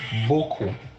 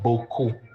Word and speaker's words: beaucoup: If I break down the word beaucoup in syllables, it is what? Beau and coup.